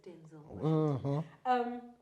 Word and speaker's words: Denzel: Denzel. It's Denzel. You guys been saying his name wrong. His name is Denzel.